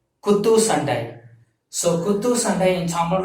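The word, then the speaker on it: குத்துச்சண்டை: So if your profession is boxing, so you have to pronounce this as Kuttu Sandai. Kuthusandai. Kuttu Sandai.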